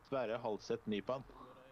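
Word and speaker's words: Sverre Halseth Nypan: You want to hear his name pronounced in Norwegian? Yeah. Are you interested? Yes. Sverre Halseth Nipan.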